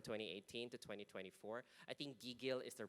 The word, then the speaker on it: gigil: So for Renan and for my foreigner colleagues at AppsFlyer, it's pronounced gigil, okay, gigil, gigil.